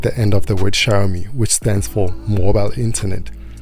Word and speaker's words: Xiaomi: the then vp hyugabara think of the two words show me then pronounce the first word as if it was shower i hope you got